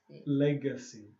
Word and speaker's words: legacy: Yeah, so G has two sounds, okay? One is a G and one is a J. The G is called legacy. G. So it's something called a hard G. Hard G is G. Okay? Soft G is J.